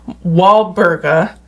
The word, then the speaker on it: Walburga: So, there was a saint named Saint, oh my God, let's see if I pronounce this correctly, Walburga. Like Mark Wahlberg.